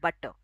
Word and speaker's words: butter: And if it comes after a vowel, we will not pronounce it. We will keep it silent.